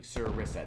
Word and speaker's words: sarissa: Sarissa, like you said. Okay, Sarissa. Yeah, okay. Thank you for Googling that. Sir Finnis, I appreciate that Google there. Sarissa. Okay, I was pronouncing correctly. Sarissa.